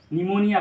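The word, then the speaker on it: pneumonia: पड़ेगी बल्कि हम इसको पी को साइलेंट करके निमोनिया पढेंगे निमोनिया एक बीमारी का नाम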